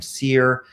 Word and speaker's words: SERE: as the seer program seer is spelled s-e-r-e and it's an acronym